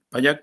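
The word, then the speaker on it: Pallach: payac er un socialista payak se escribe con ch final pero después de que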